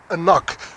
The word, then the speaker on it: AnCnoc: malt, because actually they present their malt as AnCnoc. That's how you pronounce this, AnCnoc.